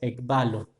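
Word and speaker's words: ἐκβάλλω: Que se menciona, que se pronuncia ekbalo. Balo, ¿sí? Significa arrojar o echar. Y la expresión ek, ¿sí? Tiene que ver con hacia afuera.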